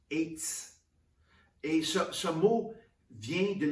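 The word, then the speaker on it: עץ: C'est écrit E-T-S, etz, qui se prononce eitz.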